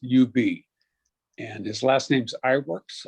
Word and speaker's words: Iwerks: And his last name's Iwerks, Iwerks.